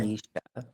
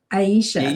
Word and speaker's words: Aisha: Anisha. Aisha.